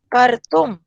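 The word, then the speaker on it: कर्तुम्: हमारे उच्चारण में भी तो यही आ रहा है ना, कर तुम, क्रतुम, इसमें क्र आ रहा है, इसमें कर्तुम आ रहा है, पूरा र भी नहीं बोल रहे, आधा बोल रहे हैं,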